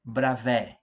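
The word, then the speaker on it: Bravais: vamos estudar agora os retículos de brava é a pronúncia é bravo representam as configurações básicas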